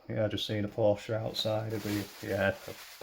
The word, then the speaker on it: Porsche: but yeah like say you should say it Porsche because that's the correct way to say it we just say Porsche over here but that's because we don't have any uh that's because we have a lot of um silent letters in our language that's all it is